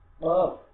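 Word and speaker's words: قاف: কফ, গলা থেকে মোটা ক দিয়ে, ক দিয়ে আমাদের এই উচ্চারণ করবে। এটা ক, একটা হচ্ছে সাধারণ ক, আর একটা হচ্ছে মোটা ক। আমরা এখানে এই কফটাকে কি করবো? গলা থেকে মোটা ক উচ্চারণ করবো, গলা ভিতর থেকে কফ, কফ।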